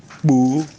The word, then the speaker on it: kpoo: Bo is spelled Kpoo. Something that is congealed. Like when you have palm oil or groundnut oil that is in a bottle, and after some time it solidifies. That is what we mean by congealed. It's spelled Kpoo. The first O has a falling stress mark from left to right, and then the last O has a flat or level stress mark on it.